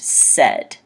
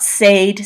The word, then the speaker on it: said: ace say but this one is said it's pronounced said not sage said so say is present said his past